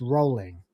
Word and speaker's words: Rowling: By the way, for anyone who doesn't know, it's pronounced Rowling. That's how she pronounces it.